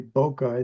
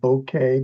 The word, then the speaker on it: bokeh: And you notice I didn't say bokeh, I said bouquet because it's a Japanese word and that's the way it's supposed to be pronounced.